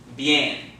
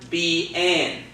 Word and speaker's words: bien: So it's not bien, okay? It's bien, okay?